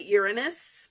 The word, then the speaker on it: Uranus: Uranus, or as the British say, Uranus, and it's like, that's not better.